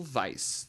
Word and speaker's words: Weisz: That's right, the 1999 cinematic masterpiece, The Mummy, starring Brendan Fraser and Rachel Weisz. That's right, that's how you pronounce it.